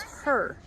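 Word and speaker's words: Hur: And then you have a guy today, it's a man, but his last name is her. H-U-R.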